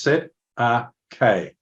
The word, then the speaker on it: Cestui Que: CQB trust is it's the set of K trust pronounced set a k and basically when you